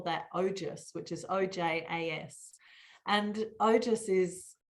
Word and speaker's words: ojas: They AS but pronounce ojas.